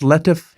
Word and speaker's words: Latif: guantanamo bay yeah and it's pronounced letf yeah luther that's how i pronounced it i've had some with this long e at the end that's why i was